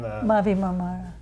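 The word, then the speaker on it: Mavi Marmara: Mavi Mamar.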